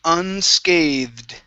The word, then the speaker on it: unscathed: up is the word unscathed okay so we have a voiced th into a d sound unscathed unscathed good good one more